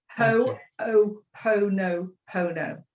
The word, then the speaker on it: Ho'oponopono: I can write it, but I can't spell it, can I? H-O apostrophe O-P-O-N-O P-O-N-O. Ho'oponopono.